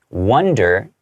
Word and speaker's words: wonder: Okay, wonder, which means to kind of think about, right? Wonder with the O is pronounced wonder. You kind of imagine there's like a number one there, wonder, okay?